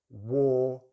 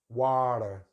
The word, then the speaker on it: water: little bit, or, war, water, ta. So it's just a T in the schwa. We don't pronounce the letter R here, or at least not in my accent.